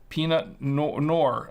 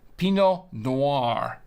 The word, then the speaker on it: Pinot Noir: it peanut nor uh no it's it's Pinot Noir Noir like think of uh if uh if you're into films you know you know film noir you know like the old black and white films the 30s and 40s uh film Noir it's Noir n-o-i-r Noir except it's peanut Pinot Noir um pretty pretty simple